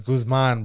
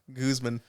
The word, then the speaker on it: Guzman: Goose meaning or like how do you say your last name again what Guzman is Guzman bro Guzman like Usman or what about is